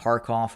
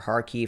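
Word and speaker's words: Kharkiv: in the area near harkoff or harkief however you wish to pronounce it uh the the russians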